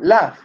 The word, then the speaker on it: laugh: Laugh. The pronunciation in past. La. Loud. Laugh. Laugh. Laugh. Loud. Laugh. Laugh. Ah, Students, the GH sound is is similar to the F in Spanish.